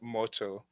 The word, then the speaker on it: MOTO: I think I should pronounce that motto.